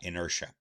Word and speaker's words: inertia: a nerve that's the way the word is pronounced in or and the tea is crowns like a shot inertia inertia depends only on the mass of the